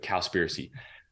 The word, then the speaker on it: Cowspiracy: were watching the documentary it's called cowspiracy so like conspiracy but cowspiracy um it was a